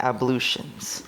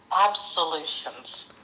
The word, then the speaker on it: ablutions: lots of English words, that one is pronounced exactly how it looks. Yes. And I've always said absolute absolutions when I say it.